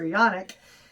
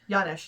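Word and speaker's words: Janosz: with a creepy supervisor yanic is that his name Yan I thought yanish yanish yes yanish sorry I couldn't read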